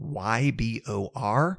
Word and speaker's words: Ybor: end up going through Ybor City by the way I'm finally pronouncing it correctly it is spelled y b o r I assume that it's a Spanish pronunciation given the influences of the area and I am I'm